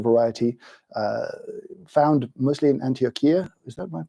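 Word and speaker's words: Antioquia: interesting and unusual variety uh found mostly in antiochia is that my pronunciation correct Ania thank you uh in Colombia where this Farm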